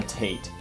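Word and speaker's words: Tait: brother is named John Tate Fraser, but he does not go by John at all. He's always gone by Tate. So it's spelled T-A-I-T.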